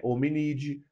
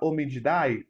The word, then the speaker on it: hominídeo: A nossa ordem é primata, a nossa família é hominídeo. Professor, eu posso falar hominidae? Tá errado, como eu disse. O A normalmente você não pronuncia no latim, é hominídeo.